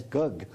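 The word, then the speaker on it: gấc: I believe the Vietnamese pronounced it as gug.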